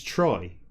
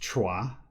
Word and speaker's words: Troi: It's just she's Troy, right? Councillor Troy. It's not pronounced Trois.